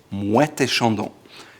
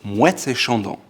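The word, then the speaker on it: Moët & Chandon: However, when you pronounce them in a row, it's called Moet Et Chandon. You say the T because there's the A in the middle, and so it's Moet Et Chandon. Moet Et Chandon.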